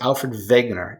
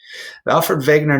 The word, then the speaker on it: Wegener: guy his name is Alfred Wegener even though his name starts with the W it's pronounced like a V Alfven vague nur he was a brilliant